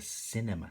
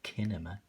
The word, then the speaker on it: cinema: There's the cinema. So they're walking past the cinema. Cinema. So it's a soft C. It's not a kinema. It's a cinema.